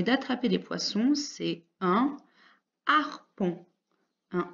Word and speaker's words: harpon: des poissons c'est un harpon un harpon et ici aussi il y aura 1 h muer en début de mots